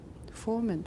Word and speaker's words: formant: In terms of their, Formant frequency. right? Okay, format, remember it's a schwa in the second syllable.